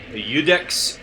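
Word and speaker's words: iudex: fire bombs so yeah udex Gunder it's spelled with an i i u d x spelled udex and that means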